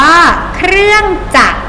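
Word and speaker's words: เครื่องจักร: ต่อ ไป คำ ว่า เครื่อง จักร เครื่อง จักร เห็น ไหม คะ ไม่ ออก เสียง รอ เรือ ตัว ท้าย เขียน ไว้ แต่ ไม่ ต้อง ออก เสียง นะ คะ เวลา อ่าน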